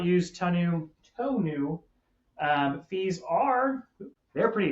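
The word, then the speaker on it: tonneau: So t o n u to new is how you say that. I thought it was tunno. It's not tunno is a cover on your on your truck.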